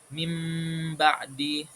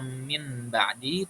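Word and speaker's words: من بعد: mim ba'di. Jadi kita enggak membacanya min ba'di, tapi diubah suaranya menjadi seperti mim.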